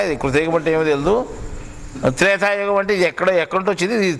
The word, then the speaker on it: త్రైతాయుగం: అది త్రేతాయుగమే కానీ ఇప్పుడు ఇనే త్రేతాయుగమే కానీ సత్యానికి ఆ త్రైతాయుగం. అది మొట్టమొదటి త్రైతాయుగం అని ఉండేది.